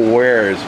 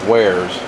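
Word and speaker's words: warez: in the old school AOL days the old waras days I used to call it waras cuz I didn't know how to pronounce it but we made pagies but I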